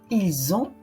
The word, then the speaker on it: ils ont: à Paris et encore attention à la prononciation ils ont ont il faut faire la liaison donc à ne pas